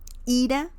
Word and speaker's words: ira: And the pronunciation is a bit different too. Ira, anger. Ira, will leave.